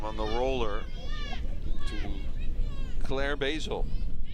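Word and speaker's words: Boesel: the roller to Claire Basil, spelled B-O-E-S-E-L. Thank goodness for the coach over at Monroe Community College that gave us the pronunciation on that one, because we would have been Bozol.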